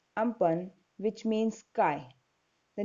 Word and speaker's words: Amphan: a very dangerous cyclone pronounced as Ampang which means sky the